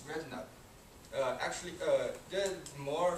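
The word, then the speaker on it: Redknapp: he's called Harry rut the K is silent uh sometimes people especially Chinese they say his name is red canut that's wrong it's red nut uh actually uh there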